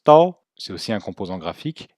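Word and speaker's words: 刀: couteau ou sabre d'ailleurs il se prononce tôt c'est aussi un composant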